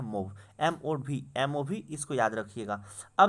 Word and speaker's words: MOV: मूव भी याद रख सकते हैं दोस्तों इसे, लेकिन इसका सही जो प्रोनाउंसिएशन होता है मूव, MOV, इसको याद रखिएगा।